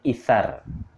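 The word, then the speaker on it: إيثار: Ya, dibacanya itsar. Hurufnya tha ya, kalau dalam bahasa Arabnya tha itu itsar.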